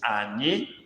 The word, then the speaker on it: anyị: We in Igbo is Ani. Ani. Ani is spelled A-N-Y-I, with the I having dot under.